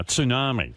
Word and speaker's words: tsunami: And I'm actually saying it now, tsunami. That's the way it's pronounced.